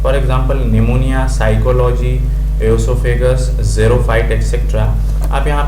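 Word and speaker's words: pneumonia: letter to पीएम कौन-कौन से बट में तो निमोनिया में जो स्टार्टिंग लेटर है वह पीएम इसमें यह आती थी साइलेंट होता है और हम लोग पूर्ण करते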